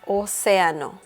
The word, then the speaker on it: océano: Ocean in Spanish is océano. Océano. So as you can see here, the accent mark is on the letter E or E. So the intonation is stronger there.